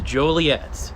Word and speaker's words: Joliet: Yeah, dude, no one can ever pronounce it right. It drives me absolutely nuts. It's a Joliet.